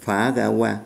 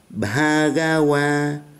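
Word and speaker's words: Bhagavā: Chúng ta nghe phát âm nhé, không phải phá gawa mà là Bhagawa.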